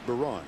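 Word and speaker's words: Byron: It's B-Y-R-O-N, pronounced Baron.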